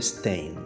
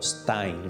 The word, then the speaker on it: Stein: En Brasil sí tenemos en la persona de Guilherme Stein, o Stein, ¿sí? O Stein, si vamos a pronunciar más en alemán.